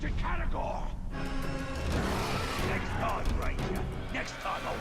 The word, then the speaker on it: Caragor: It's a Caragor! Next time, Ranger. Next time, Yeah, I keep saying it wrong. I keep saying Carabor.